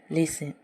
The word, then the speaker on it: listen: उसी तरह दूसरा एग्जाम्पल है LISTEN, लिसन। इसमें भी जो है STEN आया हुआ है, जिसकी वजह से टी साइलेंट है और इसे हम लोग लिसन पढ़ते हैं।